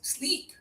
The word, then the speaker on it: sleep: bit, but this is sleep. And we all know this word, right? Let's hear you guys, sleep. Freeze. Yeah, you got it. The double E again means high tongue, not much air.